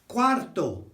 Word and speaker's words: cuarto: They do quarter as cuarto. Cuarto. That's quarter. So when you see a Q and a U in Spanish, you'll see a bit later on in this little session, it's a K sound, not a Q sound, okay?